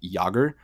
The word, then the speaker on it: Jaeger: popular Western name, and Jaeger is actually like the German word for hunter. And so like they would technically pronounce it more like Jager, but like it's you know, translation is pronounced differently.